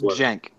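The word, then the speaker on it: Cenk: No, it's Jank.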